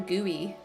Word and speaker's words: GUI: you're talking about right frame GUI is how you say it frame gooey I love how they